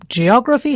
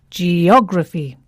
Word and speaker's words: geography: its stress yes now geography has four syllables g o grai and the stress falls on the third syllable from the end geography not geography geography or geography it's geography words that end in